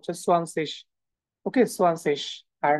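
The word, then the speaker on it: zwanzig: আচ্ছা, দেখেন, আইজি যদি থাকে নর্মালি সেটা আমরা তালের রসের মতো উচ্চারণ করি। এগুলা অনেক আপার লেভেলের কথাবার্তা, জাস্ট এতটুকুই মনে রাখেন, এটা তালের রসের মতো উচ্চারণটা সোয়ানসিস।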